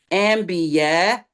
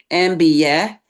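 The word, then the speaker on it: أنبياء: So ambia. Yeah. Not ambia with the i at the end. Ambia.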